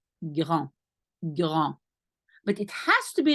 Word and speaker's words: grand: That's why you pronounce it in your throat, but it's very soft. So it will more sound like grand.